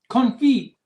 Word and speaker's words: confit: Confit, pronounced confit.